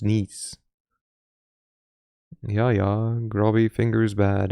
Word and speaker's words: Nice: Though I assume it's not pronounced nice.